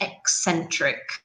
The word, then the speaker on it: eccentric: Remember that in English, when we have double C together, it's not ch, but x. It's like an X sound. So this word is eccentric.